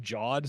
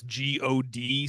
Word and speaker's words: GOD: There was this GOD system that you had to interact with. And Laurent's joke was like, it's not pronounced God, it's pronounced JOD, because, you know, GIF.